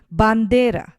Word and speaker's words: bandera: of the word then Bandera Bandera means flag here also the stress is placed on the second to last part of the word and then cheekly means